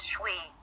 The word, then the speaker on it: Choi: to send money to Troy pronounced shwe he did not elaborate